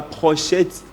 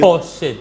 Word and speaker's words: pochette: On ne dit pas prochette. Naokaka mingi même batubate kaka ba pochette ba prononcaka prochette. Prochette yango nazoteka. Non, il ne faut plus dire prochette. Prochette même dans le dictionnaire les alakate. Il faut plutôt dire pochette.